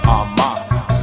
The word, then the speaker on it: Armah: My last name is pronounced Armah.